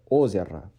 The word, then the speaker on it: озеро: And although we have 2 O's, one in the front and one in the back, but because we have to apply the stressing rule, we have to only pronounce O once, and the O at the back of the word is being de-stressed as A.